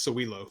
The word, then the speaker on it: Sowilo: and also celilo films is that how it's pronounced sawilo uh pretty close man excuse me it's sowilo cewelo cewelo films who